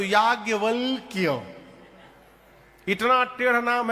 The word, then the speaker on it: याज्ञवल्क्य: आधा क य आधा ल आधा क दो दो आधा है शुद्ध उच्चारण करिए तो याज वल क इतना टेढ़ नाम है